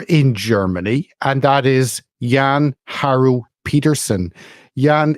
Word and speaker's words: Jann-Harro Petersen: Germany, and that is Jann-Harro Petersen. Jan, it's wonderful to have you. Please correct my pronunciation if I've got that wrong. No, that's in English. I think it's correct. Jann-Harro Petersen.